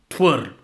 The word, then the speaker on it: Tver: I checked the dictionary pronunciation and it says Tver. It's a little rolling in your R's.